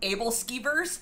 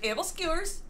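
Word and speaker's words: æbleskiver: i hate when i learned that something is pronounced a different way than the way like it's said in america um like abel skivers and then i learned that it's actually able skewers and now i have to say it like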